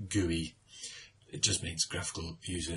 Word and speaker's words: GUI: so graphical user interface broken down into three letters GUI pronounced GUI it just means graphical